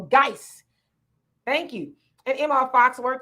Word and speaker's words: Guice: Ashonda, you says, hey, Sister Demetria, is pronounced Guice. Okay, there you go, Guice.